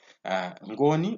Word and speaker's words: Ngoni: When you pronounce Ngoni and Nguni, they should differ there. Ngoni, we mean the people.